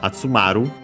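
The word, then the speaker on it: 集まる: Yeah, after that we have the verb atsumaru. Atsumaru, actually we check its accent. We have found it before, but I'm forgetting. No, okay, it was correct, accented.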